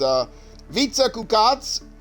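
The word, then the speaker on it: Vica Kukac: on-screen chat, but it's Vica Kukats, which is it's spelled exactly how it would be pronounced if you're pronouncing it in Hungarian, because she's Hungarian.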